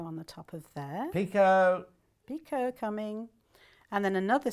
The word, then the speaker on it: picot: pick hot a up some people pronounce it pick hot okay oh do they